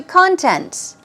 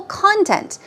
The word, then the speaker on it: content: now moving on to contents okay keep in mind stress goes on the first syllable content content we're talking about